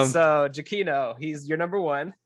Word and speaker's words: Giacchino: it's just says it's way simpler than anybody ever thinks. Giacchino.